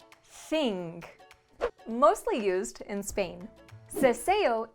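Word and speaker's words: seseo: mostly used in spain ceseo is the opposite of the theo and takes place when the letters s c before e and i and z are pronounced the same as the english s mostly used in latin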